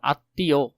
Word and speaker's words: আত্মীয়: এরপরে শব্দের মধ্যে মফলা থাকলে সেই বর্ণের উচ্চারণে দ্বিত মানে ডাবল হয় বা অনুনাসিক হয়। আর যেমন আত্মীয় আত্মীয় অন্তস্থীয় করেও এখানে ডাবল আছে।